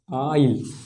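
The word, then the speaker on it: isle: और देखें आई, एस, एल, ई, इसका उच्चारण क्या हो जाएगा, आइल। ठीक है। तो इन वर्ड में हम लोग देख पा रहे हैं कि यहाँ पे हम लोग एस का उच्चारण कहीं पर भी नहीं कर रहे हैं, क्योंकि एस जो है वो आई और एल के बीच में है, इस वजह से एस साइलेंट हो गया है।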